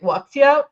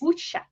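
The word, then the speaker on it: 武侠: See, I've been just pronouncing it wuxia, which I know is wrong, but the correct pronunciation is wuxia.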